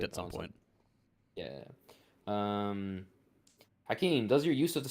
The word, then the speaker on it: Hakim: My name, I write it Hakim, but I pronounce it Hakeem. In Arabic, it's only Hakeem, though. Hakeem is colloquial for doctor. Hakim is like ruler.